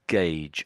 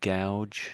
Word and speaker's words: gauge: And so that that's gauge I think I think you said gouge. Yeah. Yeah. I mispronounced that.